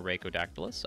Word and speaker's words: Rhaco: a good day uh my name is or raaus either pronunciation is fine and I will be